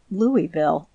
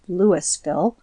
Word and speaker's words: Louisville: The citizens there pronounce it Louisville. It would sound harsh to them to hear it pronounced as it is spelled Lewisville.